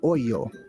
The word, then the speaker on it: ojo: In Spanish, it would be ojo, I believe is how that's pronounced, right? Ojo, oyo. And there's different ways to pronounce it depending on your dialect, right?